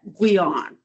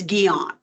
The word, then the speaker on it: Guion: The English version is Guion. That's how the English pronounce that, Guion. I scratch my head and I go, oh, no. So I put it in as a French, a translation to French, and it's Guion.